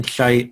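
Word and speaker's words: Haidt: buzzwords right so jonathan scheidt on jade i'm pronouncing it like it's jonathan hype but you know the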